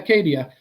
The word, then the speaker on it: Akkadia: And the pronunciation is correct? AKKADIA? Yeah, AKKADIA.